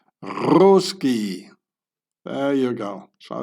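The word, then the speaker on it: русский: or the Russian in the Russian language it's pronounced roski there There you go.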